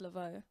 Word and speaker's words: Lavaud: Um, it's I am Lavo. So, I A M L A V A U D, but it's pronounced Lavo.